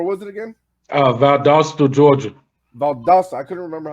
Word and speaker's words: Valdosta: Valdosta. I couldn't remember how to pronounce it.